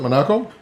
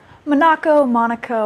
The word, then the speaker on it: Manaco: That's how you pronounce it? Manaco? Monaco.